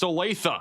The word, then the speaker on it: Olathe: It's pronounced Olathe.